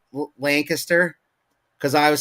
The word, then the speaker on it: Lancaster: it at first, but like, yeah, don't it's Lancaster.